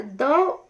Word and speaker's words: the: ठीक है, तो ये जब भी वॉवल साउंड के आगे द आएगा तब उसे दी प्रोनाउंस किया जाता है, जैसे दी एंड, दी आउल, ठीक है, दी ओनर। तो वोवल साउंड के आगे दी प्रोनाउंस होता है, जबकि कॉन्सोनेंट साउंड के आगे द का प्रोनाउंसिएशन द होता है।